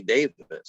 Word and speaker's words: Davies: Well, we as Americans pronounce their name incorrectly. It is actually Davis. I know. We, I've heard we that. say Yep. Davies because there's that E in there, and we just kind of, bastardized their name.